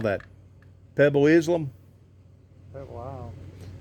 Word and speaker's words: Pebble Isle: Pebble Isle. People call it Pebble Island, but it's spelled, ISLE, Pebble Isle.